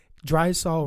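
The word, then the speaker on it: Drysol: Yeah, she's only dry sol rhymes with Lysol.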